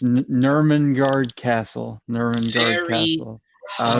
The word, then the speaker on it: Nurmengard: Newmangard. ooh, And your winner, Hopefully I didn't pronounce it. David Garcia Alonso. It's Nurmengard Castle.